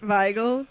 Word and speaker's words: Weigel: Weigel, because the W is pronounced like a V, right?